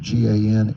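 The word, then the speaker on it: Gansevoort: You can pronounce it Gansevort, New York.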